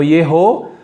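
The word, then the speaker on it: יְהוֹ: E aí você vê o Yod, o E, que é o Shevá, né? E depois o Re e o O lá em cima, que é um som de O. Então Yeho, todos começavam com Yeho.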